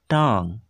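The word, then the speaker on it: tongue: যার ইংরেজিতে বলা হয় টাং বানানটা দেখে নাও টি ও এন জি ইউ ই টাং তাহলে ইংরেজিতে টাং বাংলায়তে আমরা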